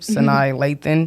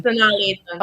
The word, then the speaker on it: Sanaa Lathan: I do not want to say her name wrong. Tell me her name, Sanai Lathan. Sanaa Lathan.